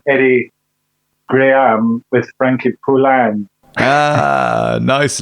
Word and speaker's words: Poullain: the show Mr Frankie Pula how are you sir thank you for joining us very good and even better hearing my name pronounced correctly for the first time in 20 years well I will admit